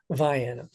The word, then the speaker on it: Vienna: my home county is Vienna but unfortunately it's pronounced Viana so everything down there has a funny pronunciation